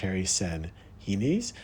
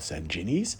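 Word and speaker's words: San Ginés: Um so it's pronounced uh chocolate sanes. The g is an h um and it's not called sanjinis.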